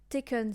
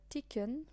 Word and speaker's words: Taken: we are speaking uh ticken no taken not ticken um s tone so